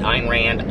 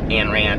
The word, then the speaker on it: Ayn Rand: pronounced her name right Hein Rand Ayn Rand I never pronounced it right but in reading The